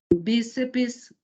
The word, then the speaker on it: bíceps: Depois temos terminação PS, bíceps e fórceps. Então, vamos à classificação da tonicidade da sílaba. Bíceps, sílaba tônica bi. Fórceps, for.